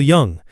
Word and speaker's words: Jung: This particular episode was truly inspired by a quote from Carl Young. How do you pronounce it correctly? Carl Young. I think Jung is right.